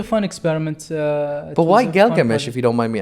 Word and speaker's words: Gilgamesh: it's great can you can you open the galgamesh is that at the beginning Gilgamesh is the correct pronunciation that's a one-on-one toy oh that's one-on-one